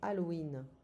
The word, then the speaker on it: Halloween: So, c'est Halloween, but we don't pronounce the H in French. C'est Halloween.